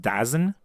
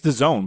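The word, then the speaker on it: DAZN: who's subscribing to daone or actually as it's pronounced dazen is it dazen I thought it was daone it's Doone but I'm pronouncing it dazen because that's how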